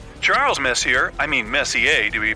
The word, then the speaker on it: Messier: well young lady the m stands for Messier pronounce Messier not Messier as in is your room messier than M Charles Messier I mean Messier to be precise was a